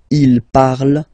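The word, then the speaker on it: ils parlent: And the last one, so even if you've got this ent, well, don't hate me, but you won't pronounce these letters, okay? You have to write them for the plural form, but you don't pronounce them, so you get il parle, elle parle.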